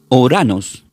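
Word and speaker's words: οὐρανός: Entonces, la palabra cielo del griego se pronuncia como uranos, no uranos o uranos.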